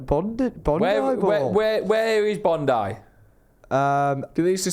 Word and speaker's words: Bondi: the ass welcome everyone welcome to bundai bowls it's obviously not pronounced like that because it's Bondi balls isn't it Bondi balls would you